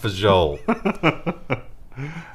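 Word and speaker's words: Fagioli: It's pronounced Fajol. Doesn't look like it, but that's how you pronounce that.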